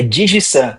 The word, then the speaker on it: Digisan: Qual é a pronúncia correta? Me corrige aí para eu não falar errado de novo. É Digizan.